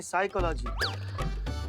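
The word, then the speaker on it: psychology: तो साइकोलॉजी नहीं, साइकोलॉजी। P silent होता है।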